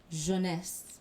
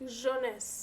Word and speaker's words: Jeunesse: Okay, so I have a Haitian friend, so he speaks French, and so he told me I want to make sure I say it right, it's Jeunesse. Jeunesse.